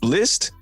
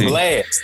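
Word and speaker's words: Blxst: But Blist, it's BLX. It's just Blast. It's Blast. It's Blast? Yeah, it's Blast, bro.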